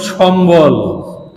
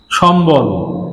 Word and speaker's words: সম্বল: এটি স্বাধীনভাবে উচ্চারণ হবে, যেমন সম্বল, সম্বল। দেখুন এখানে বটা নিচে ব্যবহার হয়েছে যুক্তভাবে, কিন্তু তারপরেও বটা উচ্চারণ হচ্ছে, সম্বল, স্বাভাবিক ব উচ্চারণ হচ্ছে।